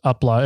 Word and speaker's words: UPLA: I've heard it pronounced UPLA before. And the way it was presented to us is UPLA.